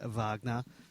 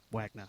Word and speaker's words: Wagner: did ask him uh they were also calling him Vagner and they they asked him what how his name is pronounced and he said Wagner so I think that settles that uh you're welcome okay